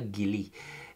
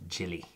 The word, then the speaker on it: Gille: asking how it's pronounced I don't wanna wanna Gilley but it's actually pronounced chili unfortunately Hindi commercial share